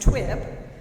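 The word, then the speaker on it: TUIB: (audience cheering and applauding) Tangled Up in Blue, pronounced T.U.I.B, was not a group that existed in our years.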